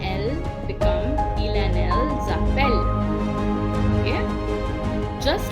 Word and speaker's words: appellent: And il and elle become il and elles appellent. Okay? Just like all other ER verbs, the ENT at the end is not pronounced.